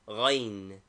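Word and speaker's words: غين: Name, Ghain. Equivalent, GH. Pronunciation, a guttural sound, something like the French R, graseye.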